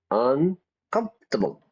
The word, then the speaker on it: uncomfortable: may be something else notice the pronunciation everybody not uncomfortable it's uncomfortable three syllables uncomfortable yeah uh right I'm